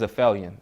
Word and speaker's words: aphelion: And like Aphelion is just a term. The right way to say it is aphelion.